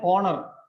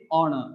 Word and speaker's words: honor: an hour an honor so we will not say horner will not say howard it is our it is honor it is air and